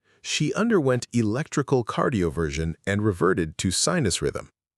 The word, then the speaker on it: cardioversion: The S makes a j sound, like the S in measure. Wrong. Cardioversion, flat. Correct. Cardioversion. Cardioversion. She underwent electrical cardioversion and reverted to sinus rhythm.